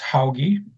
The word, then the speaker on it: Hauge: This is Hoggy and it's pronounced Hoggy.